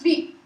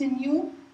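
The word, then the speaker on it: ν: it's not velocity it's not V it's in U and it's this is how we pronounce it in U and the frequency unit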